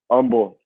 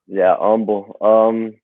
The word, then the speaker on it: Humble: Well, Humble. The H is silent. So yeah, Humble.